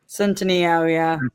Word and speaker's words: Centineo: So, uh Roxy, tell me if I pronounced this kid's name right. Noah Centennio. Centino. Yeah, okay.